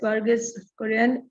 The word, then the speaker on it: Verghese Kurian: Verghese Kurian, who I don't know how to pronounce her last name. It is absolutely the correct pronunciation, and it is Verghese Kurian.